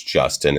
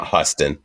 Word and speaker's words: Justin: j i hate when people try to spanish pronunciate it like no my name's justin it's not huston it's not houston who's steaming um mozzarella